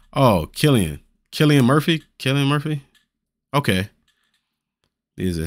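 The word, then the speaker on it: Cillian: Oh, so it's Killian. It's pronounced like Killian.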